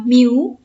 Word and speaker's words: mu: kini update Joe juga Bacanya adalah Miu nama awalnya adalah micro ya jadi micro itu